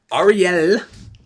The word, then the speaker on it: Arielle: I'm saying it like that because if you pronounced it or Ariel, she would correct you, because it has two L's and it's Ariel. Like it's almost like an acronym, like REL. But no, it's ARIELLE.